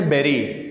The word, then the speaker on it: bury: دفنانے کو انگریزی میں کہتے ہیں بیری. اس کو جو سپیلنگ ہے BURY، کچھ لوگ اس کو بری کہتے ہیں، یہ بری نہیں ہے، اصل میں ہے بیری.